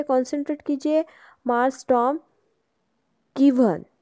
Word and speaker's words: gwine: First of ऑल देखो यहाँ पे कॉन्सेंट्रेट कीजिए, मार्स टॉम गिवन, GWINE, ये ओल्ड इंग्लिश स्पेलिंग है तो हमें इसे गिवन ही पढ़ना है।